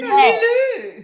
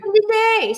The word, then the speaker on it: Lillet: But we've gone with the French pronunciation today. Lillet. Lillet.